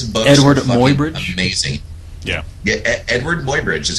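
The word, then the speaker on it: Eadweard Muybridge: Edward Mobyridge is how it's pronounced, but it's spelled all up.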